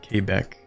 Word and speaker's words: Quebec: But yeah, like there's more French than just in Quebec or Quebec. That's how they prefer that's pronounced.